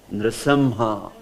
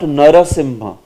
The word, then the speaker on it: Nrisimha: Nrisimha. Yes. Actually this should be pronounced as Nrisimha. Nrisimha. Nrisimha. Nrisimha. Not Narasimha. If it is Narasimha, then you say Narasimha.